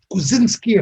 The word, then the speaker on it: Kuczynski: here now Agent Sonya, Ursula Kuczynski, if I got the pronunciation right. Right, yeah.